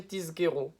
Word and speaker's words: tizkeru: Aussi, il faut bien faire attention à prononcer tizkeru. Tiz avec un zayin, et non pas avec un sin.